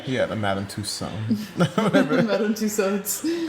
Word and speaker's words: Tussauds: Madame Tussauds. How you say it? Tussauds. Tussauds? Yeah. It's a D? Yeah.